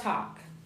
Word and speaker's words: talk: Tuesday okay what about talk talk talk remember that the L doesn't sound we don't mention it talk talk so the okay very